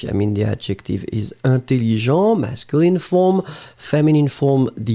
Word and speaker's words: intelligent: You just add E in the end, and you get intelligente. Hein? So, intelligent, masculine, intelligente, feminine. Remember that the first EN, it will be a nasal, so for the pronunciation, it's really un.